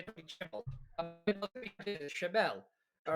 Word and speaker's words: Chimel: Tony Chimel.